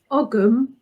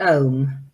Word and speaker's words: Ogham: So do you pronounce it Ogam or Oam? You should pronounce it Om. Okay. But everyone pronounces it Ogam.